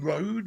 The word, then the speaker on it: Rhode: No, Rode in the English way.